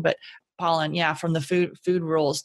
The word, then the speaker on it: Pollan: I always want to say his name wrong, but Pollan.